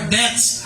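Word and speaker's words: debts: our deaths hindi kamatayan deaths Deb silent B our deaths as we forgive our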